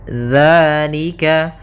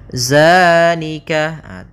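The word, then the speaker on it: ذٰلِكَ: panjangkan dua harakat dalika hati-hati dalam pelafalannya hati-hati dalam pelafalan dalal Jangan dibaca dengan Zai jangan Zika bukan dia bukan huruf dza bukan dengan bacaan Zai di sini tidak dibaca dengan Zai akan tetapi dengan dalal ujung lidahnya menempel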